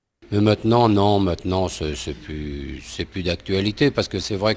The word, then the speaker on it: plus: So he doesn't pronounce it, and he shouldn't grammatically because when plus means no longer in the negative sense, one shouldn't pronounce the S.